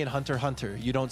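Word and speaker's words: Hunter×Hunter: The X is silent. Just like Hunter Hunter. Hunter Times Hunter.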